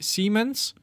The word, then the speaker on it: Siemens: It's actually German, so you have to pronounce it in German. So that would be Siemens Citrol.